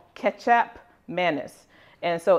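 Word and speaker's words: kecap: condiment in Indonesia called ketchup manis. And so it's pronounced, it sounds like it's spelled K-E-T-J-A-P, but it's spelled K-E-C-A-P. Looks like ketchup without some letters in it, but it's called ketchup.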